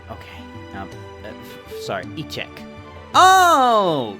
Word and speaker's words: échecs: I believe it's pronounced Fédération Internationale des Équis. Gesundheit. That's not... Okay. Sorry. E-check.